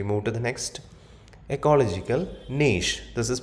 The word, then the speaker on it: niche: So we move to the next ecological niche. This is pronounced as niche.